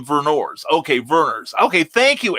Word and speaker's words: Vernors: thank you i appreciate that that's how we pronounce the burners burn oh he said vernors okay verners okay thank you eric it's about